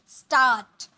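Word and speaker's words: start: उसे हम कहते स्टार्ट स्टार्ट इसे आर भी साइलेंट होता है स्टार्ट स्टार्ट नहीं बोलते स्टार्ट ओके ठहरना मीस स्टे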